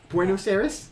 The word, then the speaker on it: Buenos Aires: much wonderboy buenos yeah you've probably pronounced it better than i do buenos aires yes is that closer yes all right let's